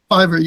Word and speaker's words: Fiverr: It was on, how do you pronounce it? Because that site doesn't exist in Germany. Fiverr? Is it Fiverr? Fiverr, yes.